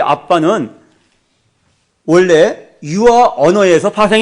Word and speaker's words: abba: 얍 어려워 하는 말이오 abba 아빠 아빠 으 아바 한데 더 가까운 발음은 아빠입니다 아 아 이것이 우리말이 아빠